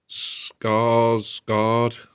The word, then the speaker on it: Skarsgård: Now the cast is Bill Skarsgård. That's how you pronounce his name.